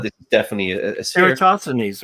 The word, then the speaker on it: Eratosthenes: Eratosthenes, right? Thank you. That's how you pronounce it.